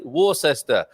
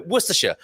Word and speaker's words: Worcestershire: thing to say or as you might say warcester yes indeed so worcestershire is what we say in the uk and